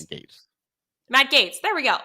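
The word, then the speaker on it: Gaetz: it's Matt Gates. Matt Gates. There we go. All right. Well, the quote says, it's like Matt Gates claiming he entered Hunter Biden's laptop into the congressional record.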